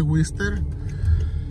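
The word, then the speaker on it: Worcester: Se escribe Gorcester, pero así se dice Wister.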